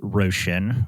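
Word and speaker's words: Róisín: Yeah, Roisin. Roshan. I think that's Uh-huh. how you pronounce Russian.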